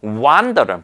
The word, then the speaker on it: wander: 자, 그러면 wander은 발음이 일단 좀 다릅니다.